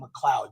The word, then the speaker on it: McLeod: So we pronounce that name McLeod, just like the clouds in the sky.